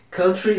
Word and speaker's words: country: Brazil is a country country se pronuncia desse jeito mesmo muita gente acha que é Country por causa da música country que a gente fala aqui mas não se pronuncia